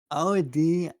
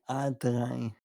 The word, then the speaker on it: Audi: You you you can remember easy by saying howdy. But udi. Oh, that's cool. Okay. So, yeah. Audi.